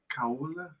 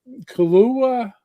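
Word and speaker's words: Kahlúa: It's Kaula. Kahlua. I can't even pronounce it.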